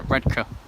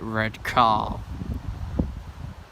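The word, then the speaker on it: Redcar: through redka even busier correct pronunciation redka they get very pissy if you call it red car minduru doesn't anyway but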